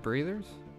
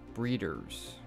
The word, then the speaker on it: breeders: Are we rapid breathers? Breeders. That is how you say the word.